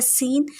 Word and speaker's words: seine: फिर है सीन fishing net. मछली पकड़ने की जो नेट होती है उसको हम सीन कहते हैं. उसकी स्पेलिंग है SEINE.